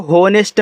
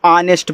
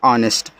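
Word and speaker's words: honest: तो इसको होनेस्ट मत पढ़िएगा। हनेस्ट मत पढ़िए। इसको ऑनेस्ट पढ़ते हैं। इस तरीके से अ एन से ना ई से ए की मात्रा एस और टी आपस में सटे हैं। से आपका आधा सा टी से ट ऑनेस्ट। ऑनेस्ट का मतलब होता है ईमानदार। एक बात और यहां एच आपका साइलेंट होता है।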